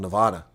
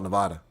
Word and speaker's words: Nevada: places in America where there's a place in Iowa spelled Nevada, but they don't call it Nevada. It's spelled the same way as the state of Nevada. They say Nevada.